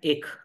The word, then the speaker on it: ache: ध्यान दीजिएगा, ए सी एच ई क्या है? ये ACHE का जो जो जो प्रोनाउंसिएशन है, ये आता है एक।